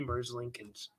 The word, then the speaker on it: Merzlikins: I looked at the Google pronunciation. I might be Merzlikins.